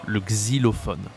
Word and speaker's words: xylophone: Ici on a le I, le xylophone, ça s'écrit avec Y, le xylophone, d'accord.